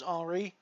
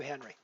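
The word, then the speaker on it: Henri: matters frankly you know if you're a French guy and your name is HRI I should not be calling you Henry right I mean Henry is not your name it's not the way it's supposed to be pronounced even though technically as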